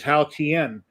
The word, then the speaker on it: Haotian: sound bite on Facebook that said how to pronounce it, which is Haotian.